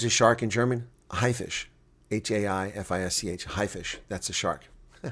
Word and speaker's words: Haifisch: A high, maybe you pronounce it high, but high. What is a shark in German? A haifisch.